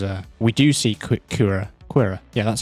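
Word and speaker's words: Qi'ra: doing that because uh we do see Kur quira yeah that's how you pronounce her name yeah you know Kur yeah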